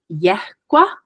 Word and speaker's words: yehgua: So it's yehgua. So I'm pronouncing that breathy H in there.